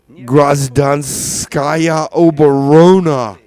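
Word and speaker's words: Гражданская оборона: Uh Gradanskaya Oberona. And I guarantee you that is the correct pronunciation.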